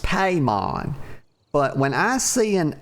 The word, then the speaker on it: Paimon: Paimon. I'm calling her Paimon. Okay. It's probably pronounced Paimon, but when I see an I, actually, I'm sure that I is probably supposed to be pronounced like a Y, but y'all know that